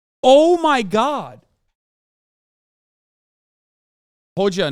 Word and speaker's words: Hoxha: Hoja, not Hoxha.